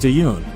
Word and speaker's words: Tan: his name wrong too I believe it's pronounced tun that tends to happen